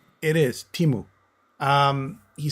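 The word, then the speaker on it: Teemu: Kimu. I don't ask me to pronounce his last name. Timu.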